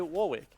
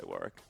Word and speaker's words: Warwick: Warwick what yeah war no it's Warick because it's the name like it's like actually how you pronounce if you meet a dude on the street and his name is Warick that's how you spell it and pronoun it you say Warwick yeah I know I